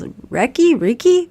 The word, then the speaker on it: Reiki: And I got I always want to say it wrong, and then I think I say it wrong. It's right, but it's Reiki, R-E-I-K-I, cleansing thing.